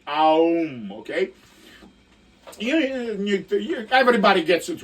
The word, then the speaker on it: Aum: You're supposed to go like Om from your belly, and it's supposed to be Aum, okay?